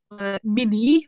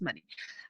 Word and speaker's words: money: And also another one, when we have money, and another we have mini. You said mini, but the correct pronunciation is money.